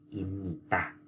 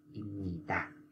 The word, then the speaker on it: 입니다: bạn phải đọc là imnita, imnita. Như vậy là do là chữ b nó gặp chữ n, cho nên nó biến thành chữ m.